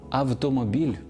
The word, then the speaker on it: автомобіль: голосних звуків а й справді пишемо і вимовляємо автомобіль а не Ау автомобілі автор а не аутор